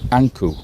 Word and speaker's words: Ankh: And we think it is Ipi or Appa, Anku. That is how Ankh is pronounced in ancient Egyptian.